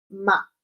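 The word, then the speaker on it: 妈: Entonces tendríamos que el primer tono de, por ejemplo, la sílaba de la M con la A, ahí tenéis el carácter, el sinograma representado como se escribe, significa mamá, y sería ma.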